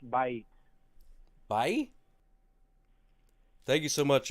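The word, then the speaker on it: בית: Yeah, and house is actually pronounced Bait.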